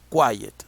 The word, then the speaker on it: quiet: What is the sound or the stress? You say quiet or quiet. In that case is quiet. So now in the first syllable, quiet. In the first syllable, you find or you listen the stress.